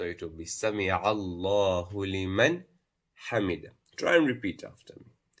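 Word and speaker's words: لِمَنْ حَمِدَهُ: It would not be Sami Allahu liman hamida. That would be wrong. You have to pronounce the Nun Sukun. You have to show it as Idhaar.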